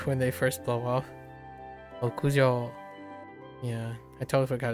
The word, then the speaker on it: 屋上: Yajo. No yajo. 屋上 Okujo, yeah.